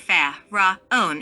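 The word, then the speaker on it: Fa-Ra-On: mantrim fair ra own is divided into three syllables thus favrah own the fa is that of the musical scale the raw is a deep sound it should be vocalized with a rolling our own reminds us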